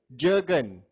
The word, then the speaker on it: Jurgen: Jurgen. Jurgen. J-U-R-G-E-N. Sounds like a German name. Jurgen. Yeah, Jurgen. Yeah, Jurgen. That's a German way of pronouncing it, Jurgen.